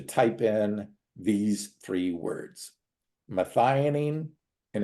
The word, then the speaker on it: methionine: at home to type in these three words methionine and it's spelled me t h IO ni I ne